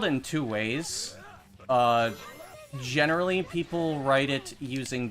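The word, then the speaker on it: güey: It's spelled in two ways. Generally people write it using W-E-Y or W-E, but technically the right way to spell it is G-U with a diaresis, E-Y. That's generally how you would say way.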